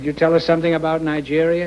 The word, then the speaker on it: Nigeria: Could you tell us something about Nigeria? Is that the way you pronounce it? Yeah, Nigeria. Nigeria, yeah?